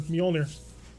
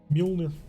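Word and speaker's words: Mjölnir: grasshopper the magellaner her mjolnir mjolnir i always got to remember that that's weirdly pronounced being you know scandinavian all right talos took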